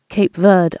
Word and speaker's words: Cape Verde: Cape Verde Islands.